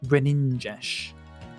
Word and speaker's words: Greninja: It's pronounced Greninja.